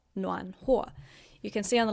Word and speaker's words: 暖和: So this 和 has got a different pronunciation. It is 和, 暖和.